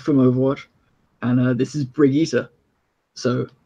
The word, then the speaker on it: Brigitte: It's Brigitte. Not Brigitte. It's the everyone's like when they saw it was like, oh, Sounds Bridget.